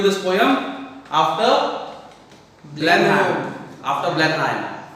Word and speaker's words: Blenheim: After Blenheim. How are you going to pronounce?